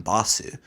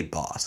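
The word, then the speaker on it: Bosse: say Basu they say boss I mean that's that's because in Japanese like that Su sound at the end oftentimes can just become that s like Des you know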